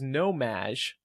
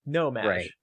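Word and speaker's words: No-Maj: So the word is nomaj. It's spelled N-O-M-A-J, but pronounced Madge, like Madonna's nickname.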